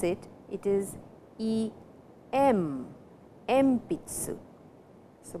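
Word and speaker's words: えんぴつ: pronounce it it is e m MP Tzu so before P the sound n changes to M please remember it is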